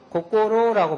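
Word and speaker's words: 心: 마음심자는 고꼬로라고 발음합니다.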